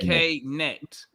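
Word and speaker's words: Knecht: You say the K and then neck. Okay. K net.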